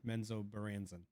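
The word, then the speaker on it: Menzoberranzan: You guys are about to enter Menzo Baranzan.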